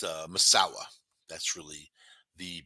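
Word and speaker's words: Masau'u: all sounds like massau m m uh but pronounced maawa that's really the pronunciation they also call him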